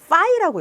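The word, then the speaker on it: φ: 기호를 우리는 뭐라고 읽냐는 파이라고 읽어요 파이 우리 원주율 얘는 파이 피 발음이고 얘는 F 발음이에요 파이 파이라고 읽어요 그래서 요렇게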